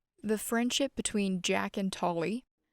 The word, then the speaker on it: Tolkien: The friendship between Jack and Tolly, or C.S. Lewis and J.R.R. Tolkien, which I recently learned is the correct pronunciation, I've been calling him Tolkien my whole life, is one of the most significant in history.